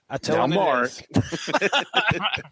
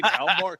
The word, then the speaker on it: Namor: Namor. That's what it sounded like you were going to say. Namor.